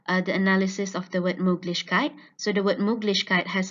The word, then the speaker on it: Möglichkeit: from these two recordings, the right stress placement is on the first syllable, Mög. From the native recording, we can see that the first syllable has the longest duration and also the highest pitch. However, the participant stressed out the penultimate syllable, lich.